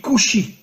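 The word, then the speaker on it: כושי: En hébreu, le mot noir se dit kushi. Alors bien sûr, vous ne connaissez pas l'hébreu, mais faites-moi confiance. Le mot kushi s'écrit en hébreu kaf vav shin yud.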